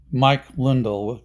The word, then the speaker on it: Lindell: money style or more French or more something Mike lindel is is how it should be pronounced but anyway here's the story about Mike